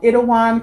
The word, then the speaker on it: Itaewon: guys if you don't already know it's called it Awan class it's spelled ITA e wo n class it is